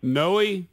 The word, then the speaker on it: Noe: Noe, yes, sir. You pronounce the E. Yes, it's Noe. Yes, it is Noe.